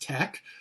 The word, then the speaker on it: TeX: LaTeX is kind of a simplified version of a formatting language called TeX, T-E-X, and that's correctly pronounced tech.